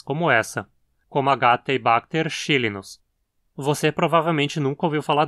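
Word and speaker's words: xylinus: Veja que aqui temos um inus de origem grega, porque xylon, madeira, é uma palavra grega. Então o i é curto e dizemos chilinus, diferente do que aconteceu lá com a espécie Clostridium botulinum, onde o i era longo por ser de origem latina.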